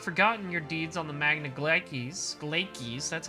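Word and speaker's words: Magna Glacies: They have not forgotten your deeds on the Magna Glaikes, that's how it's pronounced, I remember now.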